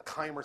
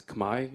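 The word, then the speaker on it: Khmer: understand exactly what the Kaymer civilization was is Kaymer pronounced today as kamae in the Cambodian language you can ask a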